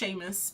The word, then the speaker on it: Seamus: It's pronounced Seamus, but I think it's Irish, isn't it? So is it Irish? Puffin Billy, that's cute. Yeah, Seamus is Irish, nice. Oh, I got it right, guys.